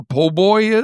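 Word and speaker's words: po' boy: You don't know what a poboy is? You're You're losing me. I It's like Oh, it's a sandwich. It's shorthand for poor boy, but it's pronounced poboy.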